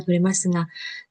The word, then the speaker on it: 取れますが: 라이즈노 가요비 되시다라 시간과 도레마스가 다음 주 화요일이면 시간이 될 것 같은데요. 이런 표현입니다. 해볼게요. 고래와 これはご丁寧に。来週の火曜日でしたら時間が取れますか。 도레마스가, 도레마스가, 네, 도레마스가인데요. 도레마스가 이렇게 이런 발음이 돼요.